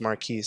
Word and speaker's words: MVRQS: I'm on Apple iTunes it's MV rqs it's pronounced Marquis I know it's spelt wrong it's not weird